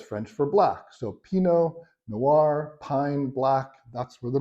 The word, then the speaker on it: Noir: word Noir or Noir actually you don't pronounce the r at the end so think of nuu